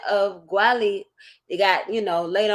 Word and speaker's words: Guale: the original pronunciation of Gwali. It got, you know, later on it became Gullah, but the original pronunciation was Wali.